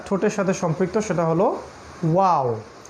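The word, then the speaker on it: واو: তারপরে তৃতীয় লেটার যেটা ঠোঁটের সাথে সম্পৃক্ত সেটা হলো ওয়াও। এটা উচ্চারণ করতে গেলে মুখটাকে একটু রাউন্ড করতে হবে, গোল করতে হবে, ওয়াও, ঠিক এরকম।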